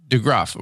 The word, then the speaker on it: DeGroff: DeGroff.